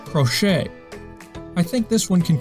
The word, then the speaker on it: crochet: Should we pronounce it crochet? Nope. Or maybe crotchet? 还是不对。最后发现其实它应该读成 crochet. Yes, that's right, crochet.